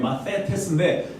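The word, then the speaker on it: μαθητής: 예, 원래 이 TH 발음이에요. 마세테스인데 마세테스.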